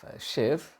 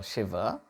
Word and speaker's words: Shiva: of shiv or shiva I'll stick to the pronunciation Shiva in English it would be uh in a purist pronunciation sense it should be shiv but it's much better to use our uh Native pronunciation Shiva um he identified the